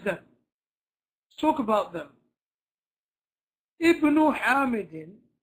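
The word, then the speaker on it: ابن: Ibnu Hamidin, even though this is Hamzatul Wasl, because it's at the beginning of a sentence, we have no choice but to pronounce it.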